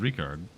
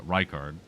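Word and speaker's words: Rykard: Uh, we we've also killed Ricard. Uh, Reichard. I keep saying his name wrong.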